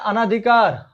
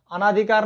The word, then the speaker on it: अनधिकार: पहला है अनाधिकार। अनाधिकार नहीं होता है, अनधिकार होता है।